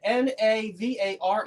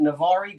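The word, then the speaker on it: Navarre: are Navar false story n a v a r r e if you want to pronounce it navari go right ahead I'm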